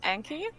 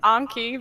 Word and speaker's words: Anki: in the next sentence you said anki because i say anki and everyone else is i'm pretty sure that everyone else is anki so i think you're the one who's in the right but i've always just